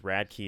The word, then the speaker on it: Radke: Radkey is their last name. No way. But it's spelt differently. Oh. It's Radke.